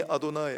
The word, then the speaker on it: 아도나이: 나는 여호와라라고 하는 이 부분은 사실은 여호와라고 읽지도 않아요. 유대인들은 아니 아도나이, 아니가 나는이고 아도나이라고 읽어요. 아도나이는 주인, 주라는 말입니다. 나는 여호와라고 써놓고 그냥 읽기는 아니 아도나이라고 읽어요.